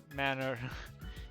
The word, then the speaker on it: manor: Pronounced just like the things you were apparently raised without. Manners, manor. You understand.